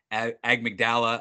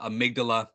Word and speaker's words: amygdala: size element called the you'll hear it pronounced different ways AG mcdala amygdala however you want to pronounce it it's up to